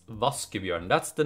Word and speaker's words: Vaskebjørn: and I find that quite funny but it's pronounced voskov yarn it's not like raccoon it's not like washing bear its vas give you and that's the name of the fly it's